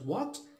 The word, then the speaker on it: what: نعم, نأخذ كلمة what, لاحظ أنها تتألف من حرف W, H, A, N, T, غير أن حرف H هنا حرف صامت بمعنى أنه لا ينطق, وكل هذه الحروف تصبح